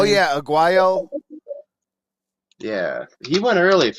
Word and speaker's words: Aguayo: Oh yeah, Aguayo.